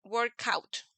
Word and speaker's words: workout: con una vocal entonces podemos unir los dos sonidos entonces podemos decir workout workout como si fueran